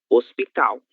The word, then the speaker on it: hospital: Lembrem-se sempre, a letra L no final de sílaba soa como U, hospital.